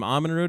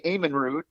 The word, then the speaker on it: Amenrud: say your last name ahmanrud is that is that just how it well well uh the norwegian in us pronounces it with the long a eamonn root but uh i'm okay